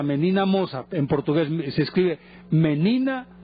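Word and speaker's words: Menina Moça: Se llama Menina Moca, o sea, Menina Moza.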